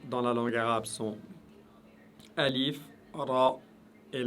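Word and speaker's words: ألف: la langue arabe sont alif, ra et lam. Alif, ra et lam. Alors aujourd'hui, tout ce que vous devez savoir, c'est que alif, prononcez-le toujours de manière légère, raison pour laquelle je l'ai mis en jaune.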